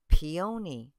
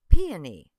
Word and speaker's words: peony: name of this flower I'm told motans say peon and others say peony and I still crack